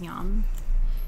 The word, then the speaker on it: Yam: yeah the heart seed Mantra is Yom spelled like yam but it's yum so you can hold